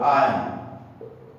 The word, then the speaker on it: iron: If I talk about the word iron, normally R is silent.